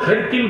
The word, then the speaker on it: হেরাকলা: তো রোম সম্রাটকে তার উপাধি ছিল কাইসার, আর তার নাম ছিল হেরাকলা। কি নাম? কেউ কেউ হেরকিল বলেছে, কিন্তু আফসাহুল কিরাআ, শুদ্ধ উচ্চারণ হচ্ছে হেরাকলা।